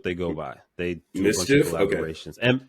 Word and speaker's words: MSCHF: It's MSCHF. MSCHF. Mischief, basically. Word. That's how you say it.